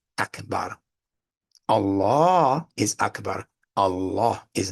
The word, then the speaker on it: Allah: is not abbar and there's nowhere in the Quran where Allah extends the pronunciation of that title Allah Beyond one vowel beat Allah that's it Allah that's it not Allah that's not in the Quran that was the way the Pagan Arabs used to pronounce the name Allah and he was a